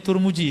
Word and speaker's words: Tirmidzi: agama riwayat Imam al-bukhari What Tirmidzi atau What turmudzi orang sini bacanya turmudzi Ya terbukti Hai Nendi I